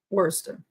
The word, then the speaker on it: Worcester: made it Worcester Worcester Worster why you got all those letters Worcester now that makes me think this better be not as easy to say wer wer I've never pronounced it that way wer wer I probably